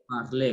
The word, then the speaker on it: parler: Parler, good. So you see, it is pronounced the same as the one with the acute accent. So the only letter which is silent there is what? Letter R.